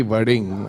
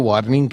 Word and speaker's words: वडिंग: नहीं नहीं आपने तो अच्छा प्रोनाउंस कर दिया कि वर्डिंग अदरवाइज कई तो वार्निंग कह देते हैं मेरे को। वार्निंग कहते हैं।